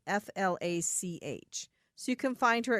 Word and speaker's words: Flach: It's pronounced Flach, but it's spelled Flach.